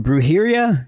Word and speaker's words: Brujeria: and you also did I was a grindcore Brujeria is that my pronouncing that right yes yeah yes how did